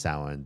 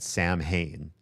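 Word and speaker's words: Samhain: said that it is also also pronounced besides being pronounced sin they said there's an alternate pronunciation called Sam Hayne and I said you are song. There is not an alternate pronunciation of Sam.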